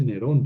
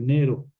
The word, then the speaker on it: Nero: en latín en latín porque en latín no se dice nerón se dice Nero se omite esto ya